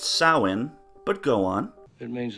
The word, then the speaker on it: Samhain: Loomis pronounces it Samhain let's listen as dr. Loomis educates all of us it's a Celtic Wood Samhain actually it's pronounced soin but go on it